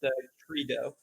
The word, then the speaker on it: Trito: yeah, his name is pronounced Trido, so they're Team Trees in his honor or against his will or something like that.